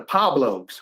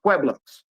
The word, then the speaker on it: Pueblos: Flacco couldn't pronounce Pueblos and mispronounced y'all and called y'all the Pablo Bloods because he didn't know that it was pronounced Pueblos.